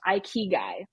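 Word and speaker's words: ikigai: I've almost become obsessed with and it's called I key guy and it's this concept of finding this balance and just in case people aren't sure it's spelled i k i g Ai and it's pronounced I Kei and essentially what it stands for is life's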